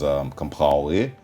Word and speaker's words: Compaoré: Blaise Compaoré, as Compaoré, I try to pronounce it the French way.